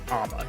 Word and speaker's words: OBBBA: And is the acronym pronounced OBBA or ABBA? I think for our purposes, we're going to go with ABBA.